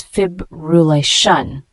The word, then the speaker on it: fibrillation: body temperature the word fibrillation f i b r l Ln it's a noun pronounced as FIB Ruan it means an irregular